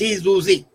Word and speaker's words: syzygy: Now it's spelled Syzygy and it's pronounced Syzygy.